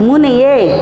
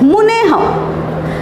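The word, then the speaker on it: मुनेः: 5 number मुनेह। Pronunciation पे ध्यान रखो, यहाँ 2 मात्रा है, ऐ की मात्रा है, मुने।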